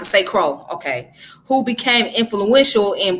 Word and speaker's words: St. Croix: Okay, it's pronounced St. Croix, okay.